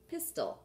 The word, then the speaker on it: pistil: There's 1 tall appendage, and it is called the pistil, and that is the female part of the flower. I'm going to tape it down. It's not pistol like a gun. It's spelled differently. P-I-S-T-I-L.